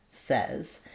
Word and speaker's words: says: this as says and it actually sounds like says. And so the what happens here is that the sounds don't match the spelling.